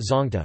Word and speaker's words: Zawngtah: The Pate tribe of Churashanpur district, Manipur call it zonta, pronounced zongta, and mainly prepare it with chili peppers and a special fermented pork called sathu, and called it zonta meh.